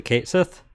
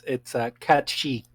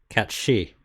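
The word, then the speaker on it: Cat Sìth: Do you know how to actually pronounce that in the Gaelic pronunciation? Is it Kate Sith? Close. It's Catchi. Cat she. Okay, sure.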